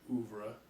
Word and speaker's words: oeuvre: oeuvre. Oeuvre? What's an oeuvre? That's your body of work. Spell it. It's like OUVRE. OEUVRE.